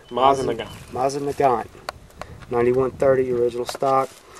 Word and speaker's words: Mosin Nagant: How you pronounce that? Mosin Nagant. Mosin Nagant.